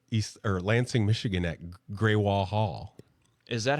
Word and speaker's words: Greywall: was getting UPS like I was calling it gral yeah because that's what it looks like whatever I said how do you pronounce grall Hall at 224 in Lancing Michigan and it came back greywall and it spelled out gr a y w